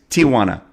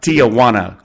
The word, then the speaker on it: Tijuana: even Tijuana and it's it's Tijuana not Tiana King goes okay it's